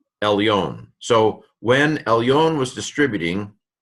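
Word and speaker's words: עֶלְיוֹן: In the portioning, ayin, sagol, lamed, silent shva, because this is a short vowel, a short e here, or an e without a macron on the top, and so el, and that's where it ends. New syllable. Yod, cholam vav, final nun, elyon.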